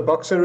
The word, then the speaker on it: Boxa: you solve for your customers sure excellent so boxer is a construction tech company um you can